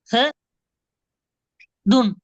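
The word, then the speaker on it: أحدٌ: அப்பதான் கொஞ்சம் பிரச்சனை ஆயிரும் அஹ துன் அஹதுன் அஹதுன் என்கிறது பல அஹதுன் ஹோட உச்சரிப்பு வரணும் அஹது அஹ அஹதுன் அஹதுன்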